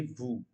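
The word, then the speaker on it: veux: can see the word is VES but the pronunciation is Vu okay and uh there are also some you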